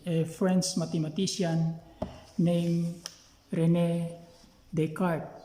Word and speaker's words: Descartes: french mathematician named rene descartes they pronounced it descartes but we can just pronounce his descartes develop what we call